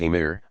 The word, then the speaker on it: Amir: the Iberian Peninsula Muslim Prince's called Amir's literally commanders pronounced Emir established themselves in major